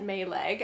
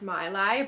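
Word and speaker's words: Maileg: right we call it may leg I think it is actually pronounced my lie but we really do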